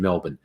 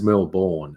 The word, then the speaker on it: Melbourne: weird and yes Chris the proper pronunciation Melbourne if anyone says Mill born it's like what the is wrong with you um uh yes but